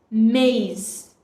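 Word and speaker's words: maïs: is a conjunction but when we put trima on I it becomes maze which is maze maze you see we have put three more on I so the sound of I is stressed more me mace another example is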